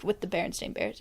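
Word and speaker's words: Berenstain: fairly certain it's the baron stain bears bear see that doesn't sound right stain yeah it's the baron stain bears like stain like stain on a tablecloth or like think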